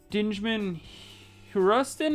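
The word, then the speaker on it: Djimon Hounsou: Dinjman Huruston, I think it's pronounced.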